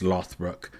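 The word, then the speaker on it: Lothbrok: o d BR R OG but it gets pronounced lothbrook although he is said to have claimed descent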